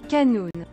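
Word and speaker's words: قانون: de la médecine qui dans la langue originale se prononce Kanoun je répète Kanoun ça vous dit quelque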